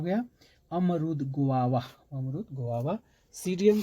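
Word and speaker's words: Psidium: सीडियम गुआ जावा, गुआ जावा, सीडियम, यहाँ पे साइलेंट, सीडियम गुआ जावा, अमरूद।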